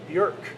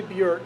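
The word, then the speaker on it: Björk: who was on our lobby her name is bjerk and uh your anus bureau calls up but it's actually bjork because rhymes with a jerk or whatever they were kind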